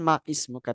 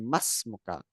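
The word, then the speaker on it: وَاسْمُكَ: Maka bacanya masmuka, masmuka. Gitu ya. Bukan maismuka tapi masmuka.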